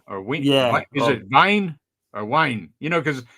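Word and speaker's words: Wiene: You know, because a lot of the W's I think it's pronounced with a V because it's German, right? So, I think it's Robert Wine.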